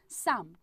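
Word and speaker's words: psalm: आपको जरूर पता होगा, इसका करेक्ट आंसर है भाई साम। देखो यहाँ पे पी और एल जो है वो हमारा क्या रहता है, वो साइलेंट रहता है, मुझे पता नहीं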